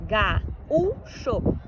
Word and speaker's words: gaúcho: E gaúcho também, olha lá, gaúcho. Estavam próximos ali A e o U ficou formando sílaba sozinho, por isso é acentuado.